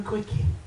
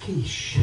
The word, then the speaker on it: quiche: said yes I said can I have a quickie she said that's pronounced quiche right I said give me